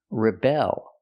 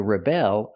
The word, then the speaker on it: rebel: With the verb, we change the stress. We put the stress on the second syllable, rebel.